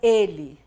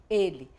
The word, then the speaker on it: ele: Para diferenciar do nome da letra L, que escreve igual, a pronúncia é diferente, é mais aberta, e o ele do pronome, a pronúncia é mais fechada.